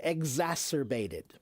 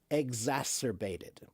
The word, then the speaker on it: exacerbated: How do you pronounce the word exacerbated? Exacerbated.